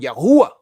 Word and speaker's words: Yahweh: They pronounce it with an ooh sound, Yahuwah. We say Yahweh.